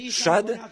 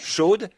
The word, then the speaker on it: Shad: En réalité, le mot hébreu, Shad, S-H-A-D, certains le prononcent Shod, Shad signifie saint, comme un sein de femme.